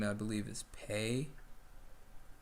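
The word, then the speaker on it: Pei: name i believe is pay it's okay how's this it's spelled p-e-i but yeah it's pronounced pay okay books going or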